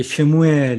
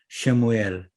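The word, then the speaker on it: שְׁמוּאֵל: 이게 쉐에의 발음이 나는 짧은 에 또는 어에 가까운 또는 의에 가까운 에다 이렇게 얘기할 수 있습니다.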